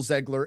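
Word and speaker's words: Zegler: fact that Rachel Zan is it zler or Ziggler by the way I think it's zler zler I think it's how you pronounce it it's zler right let's just clarify that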